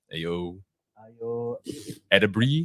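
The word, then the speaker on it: Ayo Edebiri: How do you pronounce that? Ayo. Edebri.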